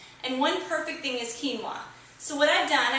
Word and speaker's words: quinoa: staple foods is quinoa it's spelled q-u-i-n-o-a looks like quinoa but it's quinoa and i'm going to